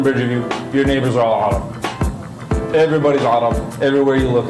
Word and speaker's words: عرب: You gotta say it like that too. You gotta be right in the deepness of your throat. Arab.